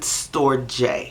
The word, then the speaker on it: Storge: Okay, so Storge love, or some people pronounce it Storge, Storge or Storge.